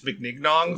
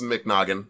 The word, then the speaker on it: McNaughton: say his last name i've been saying like vince mcmignon for like vince vince mcnaughton vince mcnaughton okay yeah